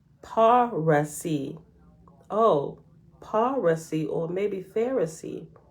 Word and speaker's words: Parsees: The same tribe in other countries was called Parsees. Parsees signify defenders of the faith, but it should be pronounced Parasi.